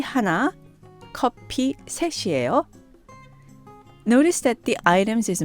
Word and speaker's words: 셋이에요: Now, please note that 셋, 3, 이에요, the be verb, is combined and is pronounced 셋이에요. Separately, it's 셋, followed by the verb 이에요. Putting these together, they're pronounced 셋이에요.